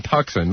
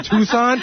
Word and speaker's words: Tucson: Listen, I remember one time you pronounced Tucson Tuxen. Listen, everyone makes a mistake. Everyone makes a mistake. That's true. I don't think you studied Arizona, though. Yeah. You don't know Tucson?